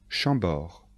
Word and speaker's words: Chambord: chenonceaux et le château d'amboise attention de bien prononcer les noms de châteaux répétez après moi chambord le château de chambord blois le château de